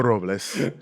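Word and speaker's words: Paso Robles: Also, real quick, just a the people who live there call it Pasa Robels. Oh, maybe it's Pasa Robels. And I think you're mispronouncing the name of your city. Well, I think it's Paso Robles. Yeah. And there's a sort of an anglicizing that happens.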